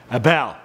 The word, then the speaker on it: Abel: also last time I think I said his name wrong Abel Abel glad we're that's why we do updates